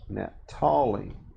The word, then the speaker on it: Naphtali: No, there's not an H, Naphtali. Naphtali.